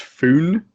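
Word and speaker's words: Fone: which i think is his name is pronounced foon his f o n e um on his webs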